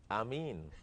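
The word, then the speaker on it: آمين: Ameen.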